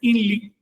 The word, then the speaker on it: INRI: Eh, y a colmo arriba le pone Inri que maya se entiende in se lee el maya no pronuncia la r pronuncia ese nombre lo lee inli y quiere decir yo